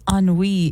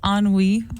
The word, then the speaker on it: ennui: DJ says, why are we trusting Nico with his pronunciation with his ennui issue? Yeah, right. I think I'm telling Can you tell me how you pronounced ennui?